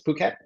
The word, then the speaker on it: Phuket: A lot of people from Europe pronounce it incorrectly, but the ph is it's not Phuket, it's Phuket.